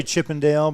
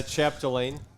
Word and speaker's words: Chapdelaine: I want to say Chippendale, but that doesn't sound right. Yeah, Chapdelaine.